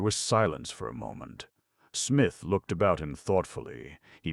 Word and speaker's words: Psmith: The P is silent.